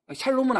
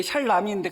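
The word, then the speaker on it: שלום: 샬롬은 아닌데 샬람인데 제가 그냥 우리 성도님들 알아듣기 편하게 샬롬이라고 발음하는 거예요.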